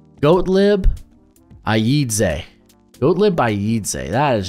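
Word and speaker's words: Gottlieb Ayedze: guy uh here let me pull up the pronunciation or it's just a fun name goat lib Aid goat lib Aid that is just a hell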